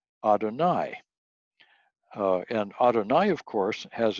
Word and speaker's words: Adonai: And he knew that the name for God in the Old Testament is YHWH, and that when the Jews come to that word, they pronounce that Adonai.